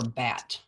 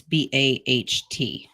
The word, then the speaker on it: baht: In Thailand, the Thai, it's either they pronounce it bait or bat, but it's BAHT.